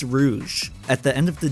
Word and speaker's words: Rouge: most minor change when you can't even pronounce her name correctly it's Rouge at the end of